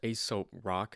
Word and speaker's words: Aesop Rock: That was my first Aesop Rock, is how you pronounce it, verse that I've ever heard.